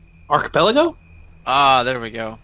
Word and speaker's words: archipelago: i've never been able to say it right archipelago ah there we go archipelago go between the two rocks you can